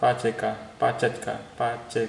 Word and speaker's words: Pacejka: Nah, magic formula ini ditemukan atau dibuat oleh peneliti yang namanya adalah Pajecka gitu bacanya.